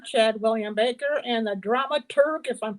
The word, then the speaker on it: dramaturg: So we are here talking to the director, Chad William Baker, and the dramaturg, if I'm pronouncing that right.